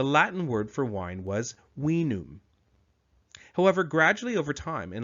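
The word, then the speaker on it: vinum: we D we key the letter v in classical Latin was actually pronounced more like a w we can see the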